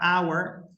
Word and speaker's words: hour: Esa H es una silent letter.